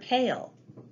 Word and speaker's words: pale: You can also see that the word pale has a magic E at the end.